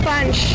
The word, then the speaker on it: Bunch: I wrote his name Bunch, like it rhymes with crunch.